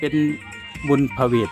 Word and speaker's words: ผะเหวด: พระ พุทธเจ้า นะ ครับ ใน ภาษา อีสาน จะ ออก เสียง พระ เวท เป็น บุญผะเหวด นะ ครับ เป็น ชื่อ เรียก